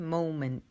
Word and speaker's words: moment: Pronunciando bien la T final también, moment.